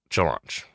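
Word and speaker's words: Challonge: so set up a it was run through chalange or challenge depending on how you want to say it chalange chalange is the proper way to say it now I thought it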